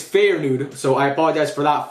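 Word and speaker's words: Feyenoord: You guys told me I pronounced Fire Nude wrong. I like Fire Nude. It's Fair Nude, so I apologize for that.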